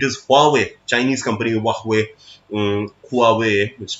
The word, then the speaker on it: Huawei: In fact, in 5G technology, it is Huawei, Chinese company Huawei, Huawei, which pronounces Huawei.